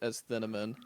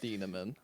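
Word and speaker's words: Thieneman: I had Dylan theamman I've been pronouncing it asamon it is Dylan theamman so I got course corrected there uh but just very scheme scheme, versatile, major production in three seasons.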